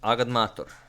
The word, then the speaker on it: agadmator: I pronounce it AGADMATOR.